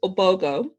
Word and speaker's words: Ogbogoh: well first of all my last name is obogo the h is silent i know um and